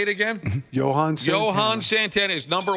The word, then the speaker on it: Johan Santana: Johan Santana.